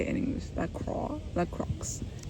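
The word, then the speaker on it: La Croix: La Crocs. It's definitely pronounced Laqua.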